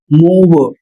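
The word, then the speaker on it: move: इसका उच्चारण होगा मूव और इसका उच्चारण होगा प्रूव।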